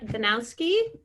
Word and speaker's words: Danowski: christina walkenshaw and we have the lovely laura danowski did i say it right yeah you did